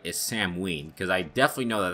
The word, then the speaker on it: Samhain: game I Dallas pronounced Samhain Samhain but know as Sam ween okay you're supposed to pronounce you pronounce the H as a W it's supposed to be